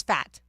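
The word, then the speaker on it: Pfaadt: guy who I think you pronounced his last name as fat yeah PF a a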